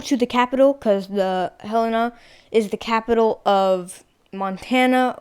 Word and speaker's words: Helena: Helena is my mom pronounced it as Helena, but then everyone was like, it's Helena.